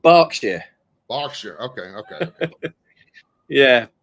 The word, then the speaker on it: Berkshire: I said that right Burkshire not Burkshire right well it's we actually pronounce it barkshire Boer okay okay okay